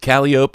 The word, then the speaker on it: calliope: Are you telling me, Sean, that calliope is a? He's trying to tell us here that that pronunciation is correct.